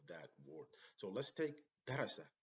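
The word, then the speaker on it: دَرَسَ: So here we pronounce darasa, and in this one we say darrasa, darrasa, darrasa.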